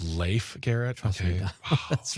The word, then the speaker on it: Leif Garrett: His name is pronounced Leif Garrett.